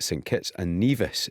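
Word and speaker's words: St Kitts and Nevis: so how did they get on tonight against St kits and neas is the correct pronunciation apologies for getting that wrong the first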